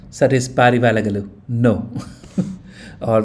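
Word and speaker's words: ಪಾರಿವಾಳಗಳು: Parivala vala galu la lu How do you pronounce? So, it is Parivalagalu.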